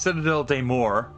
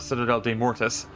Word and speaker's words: Citadelle des Morts: was in France and it was pronounced Citadel de Moore uh and I pronouncing wrong this entire time I thought Citadel de mortis um which would be combining French and Latin and I'm very stupid